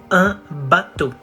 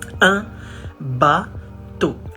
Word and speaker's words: un bateau: You say un bateau. It's masculine, so we say un, not en. Un bateau.